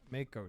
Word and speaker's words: Mako: A KO o short fin the short fin Mako Shark ma moo it's Mako it depends if